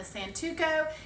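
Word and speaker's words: santoku: Okay, the next knife is, I pronounce this a santuco.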